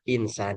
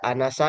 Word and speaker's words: insan: Nah, sehingga ini ee dibacanya insan jika ketemu seperti ini ya dibacanya insan tidak boleh dibaca anasa misalkan pada inisa misalkan unasa begitu bacanya insan dari mana ya dari